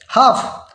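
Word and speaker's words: half: Palm, इसको एल जो है एम से पहले आया है तो एल को साइलेंट करना है। वाक, इसमें के से पहले आया है तो हमने वाक बोलना है। हाफ, हाफ देखें, हाफ में एल जो है वो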